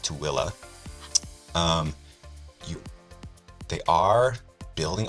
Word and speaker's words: Tooele: here in Tooele yes it looks like Thule or I don't know it's it's pronounced tooilla um you they are